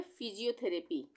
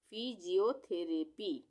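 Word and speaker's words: physiotherapy: अब है फिजियोथेरेपी, फिजियोथेरेपी इसको हम तोड़ेंगे। सबसे पहले PHY, यहाँ पे फी, यहाँ पे PH से फा बनता है तो Y के लग गया इसके साथ तो फी बन गया, फी।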